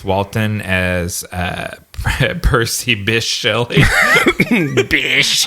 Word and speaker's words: Bysshe: Bish. I would have pronounced that Biche. Nope, it's Bish.